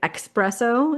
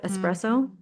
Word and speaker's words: espresso: People say expresso instead of espresso. Mm-hmm. So do you not, where are you getting the X?